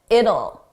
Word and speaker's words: it'll: It'll. It will sounds like it'll. It's a very soft sound. It's easy to miss that will.